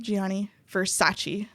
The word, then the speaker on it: Gianni Versace: right so this leads to the murder of gianni versace did i say it right okay great you